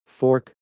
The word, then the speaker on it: fork: 이때는 자음 애플를 길게 발음합니다. fork for크 학생들도 따라 발음했다.